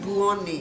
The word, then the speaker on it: Buoni: Buoni. Dr. Buoni. Yes, the buon as in the Italian good. Oh, Like buongiorno. Buongiorno. His name is Buoni.